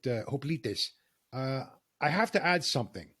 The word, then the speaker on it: hoplites: The ancient Greeks would have pronounced it hoplites.